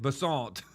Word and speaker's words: Bessent: Bessent. Like croissant.